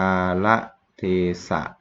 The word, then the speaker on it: กาลเทศะ: หนา นี้ นะ ครับ ลอง อ่าน ว่า กาละเทศะ ดี นะ น่า จะ